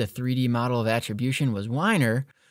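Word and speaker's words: Weiner: model of attribution was whiner but his name is basically spelled like Wiener and so to print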